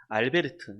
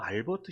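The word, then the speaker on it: Albert: 모르는 부르리 오고 또 원래 독일 사람이라서 알베르트 우리나 영국식 영어식 발음으로는 뭐 알버트 슈바이처 라고 얘기했는데 이 알베르트 슈바이처 짜라고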